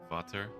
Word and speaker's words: Vater: Vater.